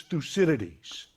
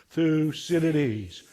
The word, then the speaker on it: Thucydides: So the great thinker is Thucydides.